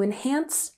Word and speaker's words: enhance: these linking words to enhance your writing. Practice has emphasis on the first syllable. Let's practice. Practice. Good. And enhance has emphasis on the second syllable. Enhance. Enhance. One more time.